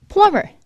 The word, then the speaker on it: plumber: plumber, 이거 발음 꼭 조심하셔야 돼요. plumber지 plumber 이렇게 비발음을 해주진 않아요.